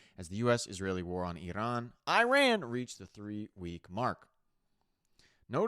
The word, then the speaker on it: Iran: Iran is how they actually pronounce it. And I've heard Trump pronounce it a bunch of ways. It's Iran, you ran, they ran.